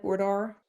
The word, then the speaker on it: boudoir: Boudoir?